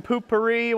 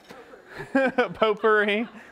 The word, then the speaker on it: potpourri: Light some poopery while you're out there and potpourri. Oh, that's how you say it. It's not poopery.